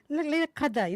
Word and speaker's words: Laylat al-Qadr: It sounds like Laylat Qadr, like a Qadr.